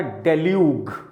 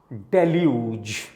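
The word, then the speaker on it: deluge: इज इट डेल्यूज और डेल्यूग? ग और जा, राइट। This is डेल्यूज।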